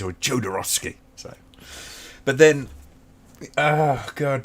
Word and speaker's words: Jodorowsky: It's pronounced Haldorowski. Yeah, that's kind of what I figured it was. So, I watch these videos and they mention him. It's always Jodorowsky.